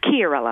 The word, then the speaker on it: Chiarella: And it's Kiorella. Did I pronounce that right? It's Kiorella. Kiorella.